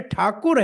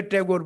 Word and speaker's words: ठाकुर: अरे ठाकुर है भाई बंगाल में अंग्रेज को उच्चारण करने नहीं आया उसकी टांग पकड़ के टैगोर बना दिया वो टैगोर नहीं है भाई उधर तो भक्ति में ठाकुर है टैगोर थोड़ी है तो ऐसे रा ठाकुर